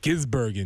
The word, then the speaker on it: Gisbergen: I was listening to the video to figure out how to pronounce it. Still haven't quite got it yet. Is it Shane Van Gisbergen? Gisbergen, yes.